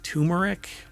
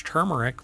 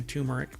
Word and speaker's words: turmeric: lot of people pronounce turmeric but it's not and I've had people when I say it's turmeric with an r and they're like there's no R in that no really because it's